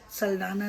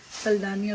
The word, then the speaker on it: Saldanha: is a very popular go in name the pronunciation is saldana now but i guess with the portuguese influence it would have been saldana because a lot of people do pronounce it